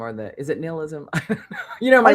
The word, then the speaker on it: nihilism: I mean, I do think that that's the other part of the nihilism, or is it nihilism? I say nihilism. I say nihilism, but that's because that's how they say it in Lebowski.